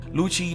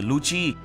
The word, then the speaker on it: Lucci: ăn cắp và từ Luci phát âm tương tự như lche trong tiếng ý có nghĩa là ánh